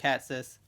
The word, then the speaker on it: Hatsis: Foxy Jackson, and our guest today is Frank Hatsis. See, I remembered how to pronounce that from yesterday.